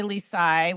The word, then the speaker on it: Lisai: Because I'm going to share my chart that I just did, which, by the way, if you go to Lori's website, Lori Lisai, which is LoriLisai.